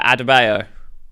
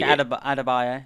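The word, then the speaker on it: Adebayo: So, we've got um I'm going to butcher this pronunciation. Leota Adabo. That's right. That's right. Oh, cool. Awesome. So, she Adabio.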